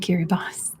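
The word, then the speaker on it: Kiribati: i that's an S sound in um and kiribos that's how they pronounce it next is Saint George's Saint George's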